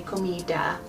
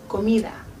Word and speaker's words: comida: a little bit softer, but my tongue is still behind my teeth. It's not a hard D like in American English. So you wouldn't say comida, you would say comida. Comida. It's almost actually like a mix between a D and a TH.